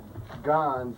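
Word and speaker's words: Gonze: It's actually Gons, which is related to apparently originally Gonzales.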